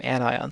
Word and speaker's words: anions: these non-metals and so the metals form cations the non-metals form anions that's how you pronounce those terms and so elements in